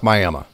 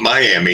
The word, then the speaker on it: Miami: to correct somebody on how to pronounce Miama oh we're probably nearing a million at this point I mean it's you know that's just the miam way we're going to immediately go no it's not Miami it's Miami I know